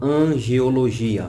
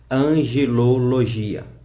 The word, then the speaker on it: angelologia: Alguns a confundem e falam angeologia, mas a pronúncia correta é angelologia.